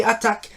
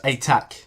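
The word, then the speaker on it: Atack: Harry Redknapp is new king of the jungle after beating Emily Attack and John Barrowman in the final. It's pronounced attack, not attack.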